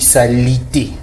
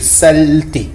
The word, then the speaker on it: saleté: ça qu'on parle, puisque en RDC, on dit salité avec un i, alors qu'il y a un e muet. Alors, on dit le mot c'est saleté. Saleté, le E est avalé parce que voilà, il n'y a pas d'accent, c'est à l'intérieur des lettres. Donc voilà, ça se prononce pas.